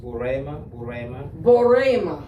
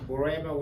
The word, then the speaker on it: Burema: First name is pronounced Burema, Borema, which means Abraham.